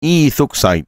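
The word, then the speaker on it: ethoxide: الايه الايثان ايل اوكسايد الايثيل اوكسايد بيتنطق ايثوكسايد ايثو ايه اوكسايد تاني الايثيل اوكسايد وبيتنطق ايثوكسايد يبقى معانا صوديوم هجمه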